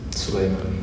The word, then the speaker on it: Suleiman: Suleiman. Ma com'è il tuo nome di battesimo? Suleiman. Suleiman. Suleiman. Allora, si pronuncia su, come francese, come francese, su, la su, U, su lei, sì.